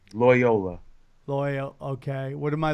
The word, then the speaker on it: Loyola: Loyola. Loyal. Okay. What am I looking at? There's the schools. What should I put? Loyola.